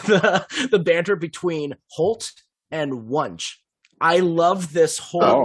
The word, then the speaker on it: Wunsch: Wunsch rhymes with lunch.